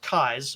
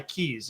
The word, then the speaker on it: Keyes: on the screen there, Keyes is your eyes with a K in front of it.